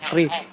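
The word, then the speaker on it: QRIS: Ini ee hanya meluruskan saja ya ee karis untuk ee pengucapan itu harusnya Kris bukan curis lagi ya.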